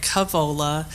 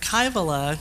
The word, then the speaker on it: Kaivola: of people including mark who actually pronounce my last name the way it should be pronounced after a lifetime of not pronouncing it in the Finnish way but in an Americanized version that sounds more like initially sounded like Kavala then went to keio la now to hear kybella in the way that